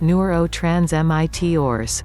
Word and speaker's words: neurotransmitters: chemistry chemicals called neurotransmitters pronounced newer oh trans MIT ores help send messages between